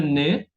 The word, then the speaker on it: nez: Ahora la Z muette tenemos le nez, la nariz, le riz, el arroz y que quiere decir en casa de.